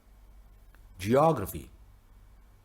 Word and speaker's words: geography: so economics good job word number two geography geography what do you think it is very good at the beginning geography very good now the